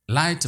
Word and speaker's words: light: Light blue, light. GH इस word में silent है।